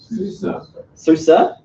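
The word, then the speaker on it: SUSE: yet soo say you're happy how is any pronounce it Susur okay and that is also a really massively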